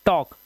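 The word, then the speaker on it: talk: जैसे टी ए एल के के से पहले एल आया तो इसे पढ़ते हैं टॉक। टॉलक नहीं पढ़ेंगे। टॉक वालक नहीं पढ़ते। इसे पढ़ते हैं वॉक। तो यहां पर हमने देखा कि हमारा एल साइलेंट हो गया है।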